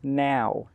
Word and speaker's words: know: between know, K-N-O-W, and now, N-O-W? So let's look at the pronunciation first. K-N-O-W is pronounced no. No. The K is silent and the W is silent.